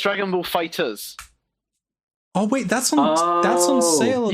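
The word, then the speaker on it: FighterZ: Yeah, it's Dragon Ball Fighters. Oh wait, that's on sale. You don't pronounce the Z. You pronounce it as an S.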